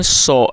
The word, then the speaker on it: saw: SEEC का मतलब होता है देखना, और सेकंड फॉर्म है सॉ, SAW। और दोस्तों, कई लोग इसको सा पढ़ते हैं, तो हमें इसको सा नहीं पढ़ना। जो इसकी सही प्रोनाउंसिएशन है वो है सॉ।